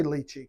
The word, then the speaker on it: lychee: I'm going to just say lychee. Yeah, I think lychee is correct. I think lychee is correct. With this pronunciation.